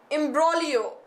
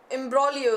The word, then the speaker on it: imbroglio: is the meaning of this these words ok imbroglio imbroglio s-- and there is this is the spell and this is how it is pronounced imbroglio is okay okay someone Sony I am doing